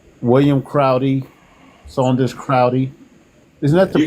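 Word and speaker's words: Crowdy: Isn't that Crowy? William Crowy. Saunders Crowy. Isn't that the pronounce? That's That's the That's the way to pronounce it. Yeah. William Saunders Crowley.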